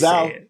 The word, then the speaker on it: Zao: Is it Zayo or is it Zao? So it is technically pronounced Zayo, but there's no right way, wrong way to say it. Yeah. But so you can say it Zao.